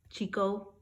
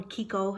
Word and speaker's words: Chicco: is an axe fit Chico or Kiko how they say it as I was telling